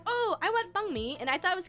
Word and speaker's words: banh mi: So I was like, oh, I want banh mi, and I thought it was cute because the name is bun mi, but it's banh mi for the sandwiches, the Vietnamese sandwiches.